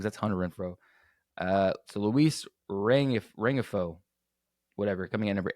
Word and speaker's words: Rengifo: Anyway, Luis Renfroe, Renfro. I cannot know how to pronounce this game. It's not Renfro because that's Hunter Renfro. So Luis Rengifo, whatever, coming in number 8.